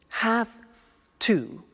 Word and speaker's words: have to: pronunciation I have to notice I don't say V I say F have half it becomes half to have the two becomes